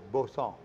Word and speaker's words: Boston Canal: I said Boston Canal is Bosson. Bosson.